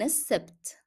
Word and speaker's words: السبت: أمس كان السبت. أمس كان السبت. And I'm not pronouncing lam in السبت because it is followed by a shadda letter.